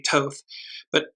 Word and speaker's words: Thoth: It's the red ibis that was associated with, I pronounce it as Thoth, it may be Toth, and you note that there's what looks like either a mountain or a pyramid in the far back.